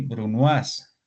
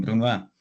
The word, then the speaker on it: brunoise: libro lo hemos leído cuando hablan del brunas o el Bruno sencillamente se escribe brunoise y son estos cubos